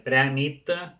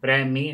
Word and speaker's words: premi: T que és incorrecte, diem prèmit, no, premi, geni, canvi, és la forma correcta, és un castellanisme dir canvi o canvit, també ho hem d'evitar.